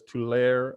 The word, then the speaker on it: Tulare: I say it as Tulare. I've heard it as Tulare. So forgive me if I've mispronounced that. I apologize. I think it's just a preference.